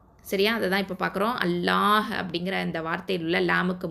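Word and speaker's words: الله: இப்போது 7 வல்லின எழுத்துக்கள் நம்ம பார்த்துருக்கோம் இல்லையா, 7 வல்லின எழுத்துக்கள், அதுக்கப்புறம் ரா, அதுக்கப்புறம் அல்லாஹ் அப்படிங்கிற வார்த்தையில் வரக்கூடிய லாம், இது வந்து இந்த 3மே தான் வல்லினமாக உச்சரிக்கப்படும்.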